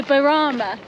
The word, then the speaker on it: Burana: If you know me, I'm really bad for this, and Bob's just told me that I mispronounced the tower, so it's called the Burana.